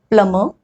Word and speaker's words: plumber: Sometimes it can be in the middle of the word also, like in the case of plumber, climber, bomber. We are not pronouncing the B.